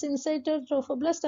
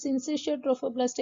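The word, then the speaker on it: syncytiotrophoblast: வெளியில லைட் பிங்கா இருக்கு பாருங்க, அது வெளியில இருக்கிற செல், அது பேர் சின்சைட்டோட்ரோஃபோபிளாஸ்ட் ஆர் சின்சிஷியோட்ரோஃபோபிளாஸ்ட், எப்படி வேணாலும் ப்ரொனவுன்ஸ் பண்ணுங்க.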